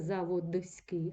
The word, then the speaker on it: заводський: брат Братський завод заводський коли ми з вами вимовляємо це слово тому чуємо спрощення у нас немовляться братиський насиляється Братський не вимовляється заводський амовляться заводський але на письмі це спрощення не закріплене на письмі ми з